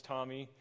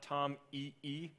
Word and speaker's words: TomEE: plus Java E equals Tommy uh we like to pronounce it Tommy as the name you know Thomas uh Tommy so it's not Tom E uh and that's you